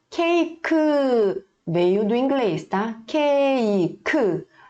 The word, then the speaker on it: 케이크: Cake. Não vai ler cake como em inglês. A gente vai ler com esse som mesmo.